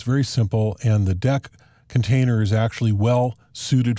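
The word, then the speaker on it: deque: container deck is pronounced deck it's not pronounced like it's spelled which is DQ because it's not a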